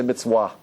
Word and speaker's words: mitzvah: And the pronunciation that they use in Ethiopia, the Ethiopian Jews, they don't say the va, they say a W there. They don't say mitzvah, they say mitzvah.